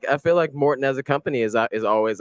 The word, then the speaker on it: Maurten: it is Maurten, but when you actually look so it's a namesake, actually.